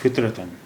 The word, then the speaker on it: فطرتاً: اب الف دو زبر جڑ گیا تو یہ ہو گیا فطرتاً.